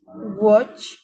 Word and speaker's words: watch: Ya tenemos clock watch. A la W la vamos a pronunciar como si fuera una u, ¿ya? Y a la a como si fuera una o. Watch.